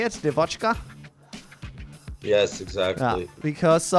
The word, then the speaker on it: Devochka: Devochka?